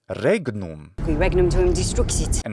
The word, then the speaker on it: regnum: So it must, in fact, be not regnum, but regnum, regnum. It's a geminated consonant.